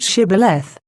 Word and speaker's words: Shibboleth: at the same time I pronounced Shibboleth Shibboleth Shibboleth with an aspiration thrice precent what is